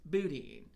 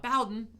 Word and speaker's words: boudin: Boudin, not Bowden, as I pronounce it.